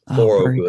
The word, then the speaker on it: Thorogood: supposedly from the god of Thor, Thorogood. Supposedly that's where it came from, but the British spelling is Ough, but it was my grandparents changed it back to the original Scandinavian spelling. Thorogood, cool. Pronounced that way. Supposedly from the god of Thor.